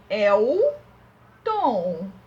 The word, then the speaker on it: Elton: Elton. Lembra que a tia Priscila falou que o L no final de uma sílaba também vai ter som de U?